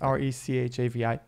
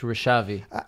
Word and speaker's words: Rechavi: Yes, R-E-C-H-A-V-I. Right, okay. You pronounce it in English, Rechavi.